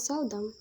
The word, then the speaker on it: seldom: The words present, factual, and seldom receive the primary stress on the first syllable, while the words reserve, explore, and esteem receive the primary stress on the second syllable.